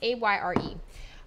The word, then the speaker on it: Ayre: It's Ayre. I want to say the Y is silent.